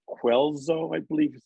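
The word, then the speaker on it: Guelzo: Quelzo, I believe is how it's pronounced.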